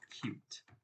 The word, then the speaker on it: Qt: Let me create a multi-line comment and say, oh wait, first of all, cute is pronounced cute. QT. Do not say cutie, say cute.